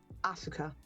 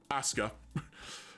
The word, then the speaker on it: Asuka: Aska. Asuka. Asuka. Two syllables. Asuka. What am I saying? Asuka. Okay. Aska. Aska. Yeah. I've got it.